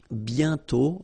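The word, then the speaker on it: bientôt: And then the final T is not pronounced banto.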